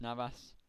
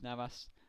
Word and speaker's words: Navas: amazing anyway right mid Jesus Navas uh or Jesus Naas as he's actually pronounced in 22 games he